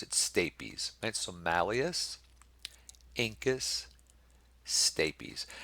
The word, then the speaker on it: stapes: is the state bees and some people say stapes I pronounce it stay peas and some malleus incus stapes and we'll look